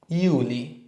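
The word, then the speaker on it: Juli: আমাদের পরের মাসটা হচ্ছে জুলাই জুলাইকে লিখবে হচ্ছে ইউলি আর আর্টিকেল ডয়া ড ইউলি তারপর আগস্ট আগস্ট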